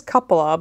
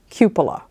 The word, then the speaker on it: cupola: is called a cupola hopefully I'm pronouncing that correctly I thought it was couple of but I do believe it's cupola they're usually bulbous or